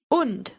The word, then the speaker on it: und: Now the next word is und. What word does that sound like? I'd say it sounds like and.